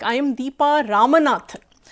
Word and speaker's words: Ramanathan: So many people pronounce it as Ramanathan, Ramanadam, or Ramnath, or Ramanna. So again, like, I go through that procedure, that process, that I have to, repeat, like R, A, M, A, N, A, T, H, A.